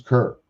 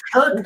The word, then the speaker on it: Kirk: It's Kirk. It's Kirk, like Captain Kirk.